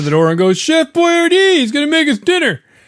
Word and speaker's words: Boyardee: canned italian food called chef boyardee as we say in english but i think in italian it's boyatay yeah as if it